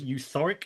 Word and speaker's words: Euthoric: as Euthoric. Is that the right pronunciation?